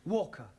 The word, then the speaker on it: Walker: driver at Mrs vka Walker what w is pronounced W your employer's name is Walker yeah Walker do you